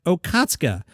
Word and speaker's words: Okatsuka: by the way, and her last name is pronounced Okatsuka, which is good because that's how I've been seeing it. I'm not sure I always get it right, but I usually say Atsuko Okatsuka, and I've kind of trained myself to do it.